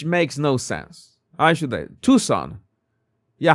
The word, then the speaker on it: Tucson: But again, the Okay, Tucson. Okay. The sea is silent.